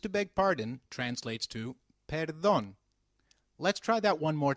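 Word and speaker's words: perdón: me when used to beg pardon translates to Peron let's try that one more time Peron very good however for seeking someone's attention excuse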